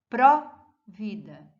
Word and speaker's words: pró-vida: Pró-vida, ele também é forte, com acento, com hífen.